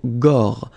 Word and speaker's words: gorge: Okay, remember when you've got this combination G and O, you get the sound go, go. Okay, so gorge, gorge. And then G and E gives J.